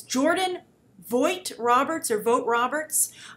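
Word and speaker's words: Jordan Vogt-Roberts: I want to make sure I pronounce his name right. So it's, let's see here. It's Jordan Vogt Roberts.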